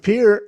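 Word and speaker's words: Peart: now everyone is saying I'm going with Pier I don't know I used to pronounce it per like the uh shampoo per shampoo but um yeah the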